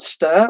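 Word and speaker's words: &str: string types string and amperand stir which is what I'm going to call it.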